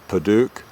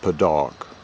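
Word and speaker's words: padauk: that it's actually called podok. It's p a d a u k. And there's a British spelling, a British pronunciation, and American pronunciation. The Brits pronounce it Paduk, and Americans pronounce it paddock.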